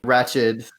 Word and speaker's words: Ratched: Is that how you pronounce her name? Ratched.